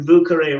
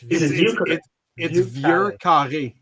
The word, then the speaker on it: Vieux Carré: Yes, it's Vieux Carré. There's no R. Rob. Oh, Jesus, Rob. That's how it's spelled. That's it. Oh, Jesus. But it is Vieux. Vieux Carré. There's no R. Vieux Carré. No, Vieux Carré. Say that. Not Vu. It's not Vu.